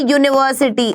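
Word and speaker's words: university: अ यूनिवर्सिटी, again you की ध्वनि है।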